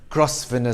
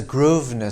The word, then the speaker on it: Grosvenor: you visit london's second largest garden square don't pronounce it as crossfinder square but as grosvenor square developed by british aristocrat sir richard grovenow